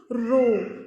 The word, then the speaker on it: rho: Which is known as रो. इसको हम pronounce कैसे करते हैं? रो, RHO, रो, RHO ऐसे बोलते हैं हम इसे.